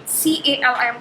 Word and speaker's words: calm: Like CALM calm, CALM calm, इसमें L silent होता है।